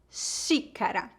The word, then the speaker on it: xícara: o x pode ser pronunciado como sh como na palavra xícara terceiro o x pode ser